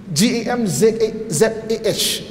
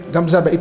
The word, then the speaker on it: Hamzah Beg: Tapi ejaan dia Hamzah tu dengan G, G-A-M-Z-A-H, Gamzah. Itu telur orang sana lah, Gamzah Beg.